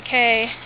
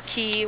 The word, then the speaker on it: Cay: He was supposed to be out on the gangway at 3, but we were out at shore on Castaway Cay, or Key, whichever way you pronounce it, and we didn't